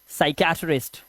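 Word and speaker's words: psychiatrist: इसी तरह से यहां पर देखिए साइकियाट्रिस्ट, इसमें यहां पर एस से पहले पी है,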